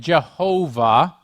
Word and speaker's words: Yahweh: say what is that that is the appropriate way of pronouncing what was written in the king james version jehovah it is the personal name